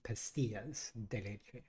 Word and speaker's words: pastillas: so I was right it's pastillas yes the two L's are pronounced like a y gotcha um so you